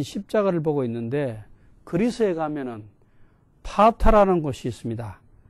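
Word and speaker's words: Patra: 안드레가 진 십자가를 보고 있는데 그리스에 가면은 파타라는 곳이 있습니다. 영어로 스펠링은 P-A-T-R-A 파타라.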